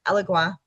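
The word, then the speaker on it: Elegua: Allegua. Okay everybody pronounces this a little bit different. Alua is how I pronounce this.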